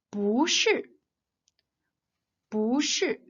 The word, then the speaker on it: 不是: But it changes to the second tongue when it is immediately followed by another fourth tongue syllable. For example, 不是不是 and 不会不会不是 means it isn't.